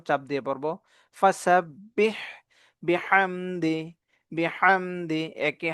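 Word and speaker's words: فَسَبِّحْ: দেখবে ফাসাববিহামদি রব্বিকা ওসতাফির ফাসাববিহ এখানে হা এর উচ্চারণ চাপ দিয়ে পড়ব ফাসাববিহ বিহামদি বিহামদি একে হা চাপ দিয়ে দুইটাকে চাপ দিয়ে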